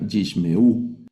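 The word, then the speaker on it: יִשְׁמְעוּ: Luego la segunda regla dice, el Sheva se pronuncia cuando está precedido de otro Sheva. Es decir, si hay 2 Sheva en sílabas seguidas, vamos a leer el segundo. El primero no se lee y el segundo sí lo vamos a leer. Así como en esta palabra Yishmeu, esta palabra hebrea Yishmeu, el primer Sheva que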